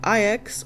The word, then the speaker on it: IX: I falls into the huge mystery category. ex or I've heard it pronounced both ways depending on which language you play the game in.